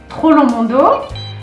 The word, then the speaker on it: Troplong Mondot: that is the second wine from uh chateau trollo mundo you'll see the writing of toronto we don't